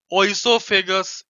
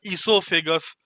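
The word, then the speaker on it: oesophagus: Grass नली, ओइसोफेगस या इसोफेगस, जैसा भी आप प्रोनाउंसिएट करना चाहो, ओ से भी प्रोनाउंसिएट करते हैं, ई से भी प्रोनाउंसिएट करते हैं, ओइसोफेगस या इसोफेगस, ठीक है।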